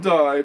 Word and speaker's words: Dye: Meanwhile, Harrison and Dye battle for 8th. That's Daniel Dye, by the way. It's spelled like D-Y-E, okay?